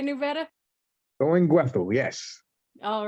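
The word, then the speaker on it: Thuringwethil: Did I pronounce that right, KnewBetta? Durin-Gwethil, yes.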